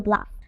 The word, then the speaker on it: bluff: Please pay attention to the pronunciation. Listen carefully. Bluff. Bluff. Ending F sound.